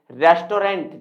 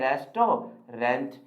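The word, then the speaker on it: restaurant: है आपको करना है प्रोनाउंस रेस्टोरेंट जिसे हम कहते हैं क्या दोस्तों रेस्टोरेंट है ना कैसे पढ़ने हैं हम इसे हमेशा पढ़ने हैं रिस्ट्रो रेंट है ना हम इसे रेस्टोरेंट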